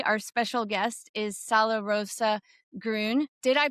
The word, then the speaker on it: Gröhn: And joining us today, our special guest is Salorosa Grun. Did I pronounce that correctly? Yeah. Yeah. Yeah, it's Grun. Thank you. Yeah, Grun for for clarity.